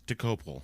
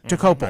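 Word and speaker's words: Dokoupil: Anyway, I believe it's DeCoupil. DeCoupil, Dan? Okay. DeCoupil. I believe that's what it is.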